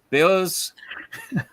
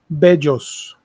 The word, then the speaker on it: bellos: And Rodimus says, Los grandiosos omni hermanos beos. Is it beos or belos? Bejos. Bejos. Like stronger pronunciation on the double L.